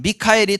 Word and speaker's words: 미카엘: 방해할 때 군대 천사장 미카엘이 도왔습니다 미국 이름 가운데 뭐 마이클이라는 이름 많이 쓰죠 근데이 마이클이라는게 원래 미카엘이 똑같은 거예요 영어식 발음을 하자 보니까 마이클 그러는데 어쨌거나 미카엘 천사장 있게